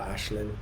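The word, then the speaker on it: Aisling: It's Irish, so it's Aislin for Ashlyn.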